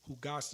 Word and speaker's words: jugaste: So jugaste is like more of a H, like a jugaste, right?